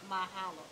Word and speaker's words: mahalo: And now you said I said it right, mahalo.